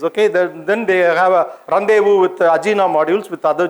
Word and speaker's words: rendezvous: on the space okay then they have a rendezvous with ajinomo modules with other gemini capsules it's not renders first you should pronounce us rendezvous yes so then came the apollo project literally